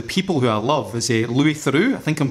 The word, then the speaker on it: Louis Theroux: One of the things, or one of the people who I love is Louis Theroux. I think I'm pronouncing his name right, Louis Theroux.